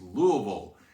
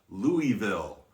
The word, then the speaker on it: Louisville: here on forward okay it's louisville it is not louisville and it's new orleans